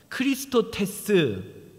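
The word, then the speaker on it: χρηστότης: 자비라는 단어의 헬라어 원어는요 크리스토테스 크리스토테스라는 단어입니다 크리스토테스 발음이 뭐랑 비슷하죠 그리스도 그리스도랑 비슷하죠 헬라어로 그리스도라는 단어가요 크리스토스입니다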